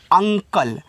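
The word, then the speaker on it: uncle: UNCIL, इसको पढ़ते हैं अंकल। तो UN आपके यहाँ पे हो जाएगा अंग, यहाँ पे कल, तो C से का, L से ला, लास्ट वाले ई का उच्चारण होता नहीं, ये आपका हो गया अंकल।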